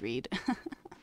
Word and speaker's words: Reed: My second name is pronounced Red. Nah, that would have been good for continuity, but it is Reed.